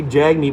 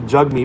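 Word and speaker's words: Jagmeet: me it's funny because you want to say jag me but it's actually jug meat but then again who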